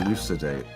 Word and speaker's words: elucidate: Elucidate. Yeah, like lucid.